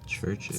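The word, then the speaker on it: CHVRCHES: Churches. Spelled with a V instead of a U.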